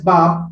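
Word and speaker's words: 밥: This is a Korean word which is pronounced as bap, that means the rice.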